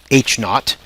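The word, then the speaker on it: H₀: with H Sub Zero we pronounced that H naught we do that because we want to sound British and sophisticated so H naught is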